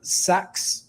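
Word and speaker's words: Sachs: some backing from Goldman um sax I think is the pronunciation njp Morgan so um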